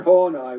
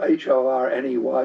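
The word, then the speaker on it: Horney: Karen Hornai was one of those. Karen Hornai, her name is spelled H O R N Y.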